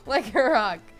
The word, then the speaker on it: Lycanroc: Lycanroc.